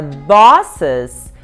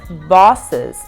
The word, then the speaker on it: bosses: Agora, bosses, você abre mais a boca, que nem no singular. Boss, bosses. E mais uma vez você não pronuncia o E, gente.